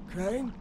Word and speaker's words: Crane: Crane? Crane rhymes with train and brain and sane and grain and rain and plane and the other kind of plane and...